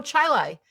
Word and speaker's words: Chili: Oh, Chilai. Chilai. Ch H I L I. How do you pronounce that?